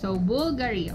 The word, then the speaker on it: BVLGARI: So ito pala ang tamang pronunciation. BVLGARI, okay?